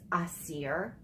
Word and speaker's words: Asir: I really, in my, pronunciation, it's Asir. You're really supposed to roll the R, and it sounds, you know, because it is an authentic African name, which I, it was